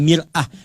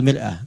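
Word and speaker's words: مرآة: Ya, kalimatnya sama, cuma cara bacanya beda. Al-mar'atu kal mir'ah. Yang satu pakai fathah, yang satu pakai kasrah.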